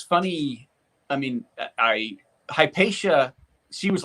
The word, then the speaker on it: Hypatia: You can pronounce names better than I can. No, you got it right, Hypatia.